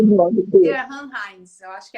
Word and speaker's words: Ciarán: Ciarán Hinds, eu acho que é assim que pronuncia o nome dele. Ele mesmo. É o Ciarán, exatamente.